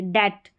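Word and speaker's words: debt: अब यहां पर देखिए बी टी का कॉम्बिनेशन है। बी टी का यहां पर बी को नहीं पढ़ना है। डेप्ट नहीं पढ़ते। डेट डेट पढ़ते हैं। बी साइलेंट है।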